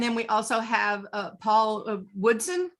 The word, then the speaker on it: Woodson: And then we also have Paul Woodson. Is that how you pronounce your last name? Hello. Yeah, Woodson. Yeah.